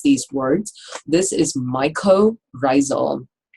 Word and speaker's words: mycorrhizal: This is mycorrhizal. Myco part of this word, mycology, study of fungus. Myco refers to fungi. Rhizae refers to root.